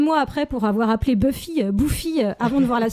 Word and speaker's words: Buffy: une fille qui s'appelait Buffy alors à l'époque à l'époque on savait pas comment prononcer ce motl puisque on l'avait juste vu dans le catalogue avec mes sœurs on disait bouffi oui à cause de